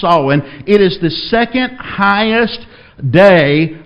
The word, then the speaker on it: Samhain: the Catholics got hold of it was called solving it looks like Samhain it's pronounced Owen it is the second-highest day of the satanic